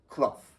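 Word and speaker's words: Clough: His name was CL and he was CL and he pronounced it cloth.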